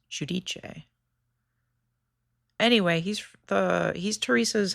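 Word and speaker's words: Giudice: Joe Judice, which is an insane pronunciation of that name. He's actually from Italy. I don't know why he says Judice. It should be pronounced Judiche.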